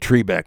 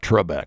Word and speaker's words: Trebek: Everybody remembers Trebeck. And yeah, I said Trebeck, not Trebek. That's the way it's pronounced, or was.